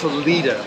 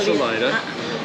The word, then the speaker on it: Salida: rock there really good view from so it's pronounced Salita not Salida and this is the this is the AR